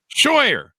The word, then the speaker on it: Scheuer: Did I get your last name pronounced correctly? Scheuer.